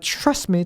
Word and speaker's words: trust me: 그래서 trust me 하면은 이게 T 발음을 제대로 하고 me로 넘어가면 시간이 많이 떠요. 그런 걸 싫어해. 그래서 그냥 trust me. 마지막 T는 잘 안 들리게 돼요.